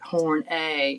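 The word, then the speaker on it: Horney: Oh no you had to tell people to pronounce it horn a it didn't stick.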